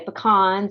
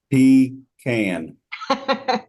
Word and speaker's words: pecan: a bunch of Growers I always ask them how how do they say it so Ben how do you say it he can so it always starts